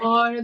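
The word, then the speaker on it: haar: as well and so I wondered about the hor the connection to the hor some some some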